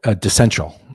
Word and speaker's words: DeCential: Yeah, DeCential. like DeCential. DeCential. Okay. Yeah, like DeCential. decentralized and essential put together.